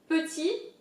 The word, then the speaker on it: petit: So again, petit indicates small in French, it means small. Petit, here the T at the end is silent.